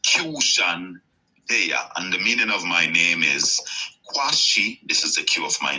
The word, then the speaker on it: Qshan Deya': This is the Q of my name. SHAN from the suffix of the word nation. Just spelling it like I'm pronouncing it instead of putting TION.